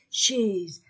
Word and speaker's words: chaise: le stylo la chaise chaise a I et s entre deux voyelles la chaise la femme